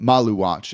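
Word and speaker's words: Maluach: I'm pulling up Maluatch's um Malu watch is how you pronounce it kind of with the spices there.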